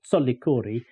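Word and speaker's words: Tsolikouri: is called soori but in Georgia solor would always be spelled with a t in front of the a so soori I'm glad you mention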